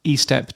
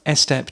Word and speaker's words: Estep: Will Clark, and Ralph Eep Jr. who I've been calling Ralph Estep Jr. for a long time. And I only heard on a different podcast that he's pronounced EEP.